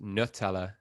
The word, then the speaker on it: Nutella: We can just leave that debate right there because it is pronounced Nutella. Don't add us. It's Nutella.